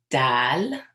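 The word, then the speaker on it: دال: Dal. Dal. So similar to D. And dal. Dal. This is one letter that when I'm teaching adults or kids Arabic, it's very common to mispronounce this letter.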